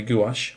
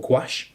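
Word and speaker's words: gouache: That's one by Windsor and Newton, the designer gash or gouash. Depends how you pronounce it, I know.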